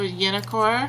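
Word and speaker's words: Jennefer: The J is pronounced Y. So Yennefer.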